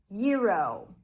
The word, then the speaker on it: gyro: How to pronounce the word yuro, the meat sandwich. This word is borrowed from Greek, but we are changing the sounds to American sounds because now it's a word in English because people eat all the time.